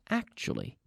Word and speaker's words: actually: last point we have the word actually actually now we have that nice tu sound choo choo actually actually and it says